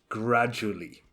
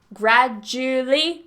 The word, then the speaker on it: gradually: word gradually gradually yes so this you can say it with gradually three syllables gradually exactly as Derek does and I say it that way as well it's a lot easier but you will see in the dictionary it has four syllables gradually gradually but in fast speech this is quite tricky so we tend to cut the syllables gradually yeah yeah that's